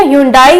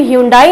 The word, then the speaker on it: ह्यूंडे: होगा इसके बारे में, पर ये हम हमेशा ह्यूंडाई ही बोलते हैं, बट ये ह्यूंडाई नहीं है, इसका प्रोनाउंसिएशन होता है ह्यूंडे। आप एक बार मेरे साथ फिर बोलिए ह्यूंडे। सो इसका प्रोनाउंसिएशन होता है ह्यूंडे ना कि ह्यूंडाई।